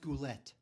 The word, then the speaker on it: Goulet: a lot of great guest stars uh Robert goule right bernardette Peters come on pronounced goulette yeah uh so anyway that's uh that's it